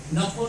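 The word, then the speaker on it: นครปฐม: फुटाचे बुद्ध आहेत आणि त्या नगराच नाव आहे नखोन पठो नखोन म्हणजे हे नगरच आहे एम एन ए जे आर परंतु थाई प्रोनन्सिएशन मध्ये त्याला नफोन म्हणतात नगरला पठोम पठोम म्हणजे प्रथम म्हणजे मानव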